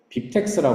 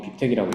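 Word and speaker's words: BibTeX: 그래서 사람들이 많이 쓰는 게 빕텍스라고 하는 게 있습니다. 정확히 빕텍이라고 읽어야겠죠? 빕텍이라고 하는 게 있는데 이거는 뭐냐면은 bib라고 하는 파일을 하나 만들고요.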